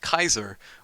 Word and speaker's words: Caesar: I know that Caesar, like Julius Caesar, then his name is actually pronounced Kaiser, which is where the German term Kaiser is derived from.